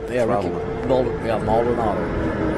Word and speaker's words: Ricky Maldonado: Yeah, Ricky Maldonado is how it's pronounced.